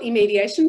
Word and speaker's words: Immediation: um a platform called eye mediation am i pronouncing that correctly we we call it immediation but a lot of people well natalie can